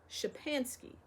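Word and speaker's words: Szczepansky: k y and said that's how you write it you call it shapansky the Old Gentleman took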